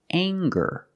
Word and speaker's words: anger: this word and it's anger let's talk about anger we have the nasal sound plus the hard G the G sound together G anger anger is a